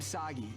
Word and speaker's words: Sagi: This is kind of overdue, but I'm Sagi. Rhymes with Saki.